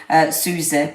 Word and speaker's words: Soizie: Susie, but it's spelled Soizie.